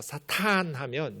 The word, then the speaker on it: 사탄: 짧게 말하면 동사여서 대적하다, 반대하다, 고발하다 이런 동사이고요. 그걸 길게 발음해서 사탄하면 명사가 돼서 대적하는 자.